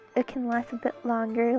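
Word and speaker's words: 龍: Long. It's Cantonese. Long. In Mandarin, it's pronounced long.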